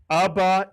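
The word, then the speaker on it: אבא: The third Hebrew word I taught you, 2 vowels, 2 syllables. Abba is correct.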